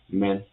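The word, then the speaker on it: 们: So here the pronunciation of men as m has the same pronunciation in English. So it is a m. So en has the same pronunciation as pen. So if we put them together in one syllable it will be men.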